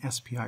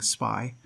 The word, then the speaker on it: SPI: definition of what an spi really is first of all you've noticed that i'm pronouncing this spi rather than saying spy i recommend you use spi instead of spy and the reason for